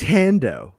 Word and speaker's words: Hondo: no he lived no he's hando they actually go with the hand pronunciation hondo why